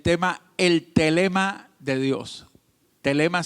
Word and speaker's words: Thelema: Telema se escribe T-H-E-L-E-M-A. Telema.